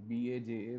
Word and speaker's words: baja: is called as patella baja, or BAJA, where the J is silent, patella baja, right?